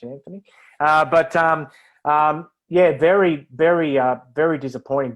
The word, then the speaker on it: Anthony: disappointing or Anthony Milford as they call him here next year in the World Cup and never pronounce the H Anthony but yeah very very